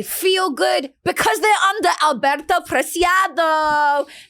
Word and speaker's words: Alberto: good because they're under Alberto Preciado. Do I say it right? Yeah.